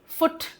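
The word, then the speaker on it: foot: फुट। यहां पर pronunciation क्या हो गया? छोटा ऊ हो गया।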